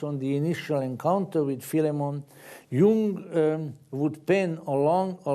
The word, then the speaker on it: Philemon: or the greeks and people with the knowledge of greek tell me that in greek it really should be pronounced philemon but whichever way you